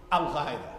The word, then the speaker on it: Al-Qaeda: Pronounce it the right way. Al-Qaeda.